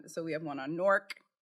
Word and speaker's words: Newark: we have one on Nork not Newark yes see I can't